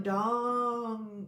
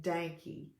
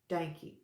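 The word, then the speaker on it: Dahnke: And I have to say Dankey, like Yankee with a D. Dankey.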